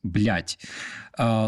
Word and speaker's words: блядь: In Ukrainian language, when you want to curse like very very much, we pronounce it this way. It's блядь.